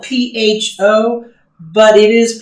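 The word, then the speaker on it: phở: And we were recently at a Vietnamese restaurant, and they had t-shirts that said forever on it. So that was a reminder of how to pronounce it.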